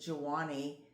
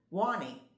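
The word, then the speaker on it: Juani: I pronounce it Jawani and it's J U A N I is her first name and she pronounces it Wanie as my husband says well that's how it should be pronounced.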